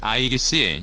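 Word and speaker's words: Aegis: 통해 우리나라는 세계 5번째로 이지스 구축함 보유국이 됐다 이지스 구축함은 현존 최고의 성능을 자랑하는 함정이다 명칭은 그리스 신화에 나오는 신 제우스가 그의 딸 아테나에게 준 방패 아이기스에서 유래했다 이지스는 아이기스의 영어식 발음이다 어떤 창도 막을 수 있는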